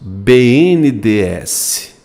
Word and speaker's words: BNDES: Como eu pronuncio isso? BNDES. BNDES. BNDES. Você quase não pronuncia o E, né? BNDES. BNDES. Né? Você quase não pronuncia o E. Você pronuncia como um acrônimo ou como uma sigla? Me diz. Não, professor, eu pronuncio como uma sigla. Eu digo letra a letra, BNDES.